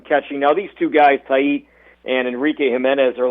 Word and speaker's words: Tait: And I think his last name is pronounced Tait. I think it's Eduardo Tait.